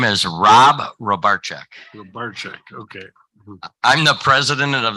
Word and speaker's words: Rybarczyk: of college before I learned how do you pronounce it my name is Rob robarczak okay I'm the president of the Marathon County